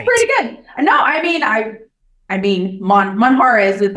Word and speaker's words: Monjaraz: I seem to remember from my Spanish learnings that J's are a bit different. Now, I'm going to go with Monjaraz. That's pretty good.